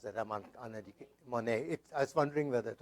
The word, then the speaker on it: Monnet: Monet. I was wondering whether it was. Okay, Monet. Thank you. It's like a painter. Okay. But the extra N bothered me here.